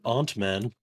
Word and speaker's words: Ant-Man: Ant-Man as opposed to Uncle Man. Oh, my God. Some people pronounce it Aunt-Man.